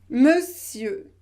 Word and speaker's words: monsieur: vous devez prononcé eux monsieur et ne prononcez pas le r final non non non non